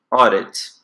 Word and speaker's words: audit: Esse AU aqui, ele tem o som de O. Então, aqui eu pronuncio audit. Audit.